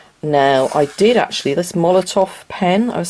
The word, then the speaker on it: Molotow: I think it's called Molotov. It's spelt Molotow, but it's Molotov, I think.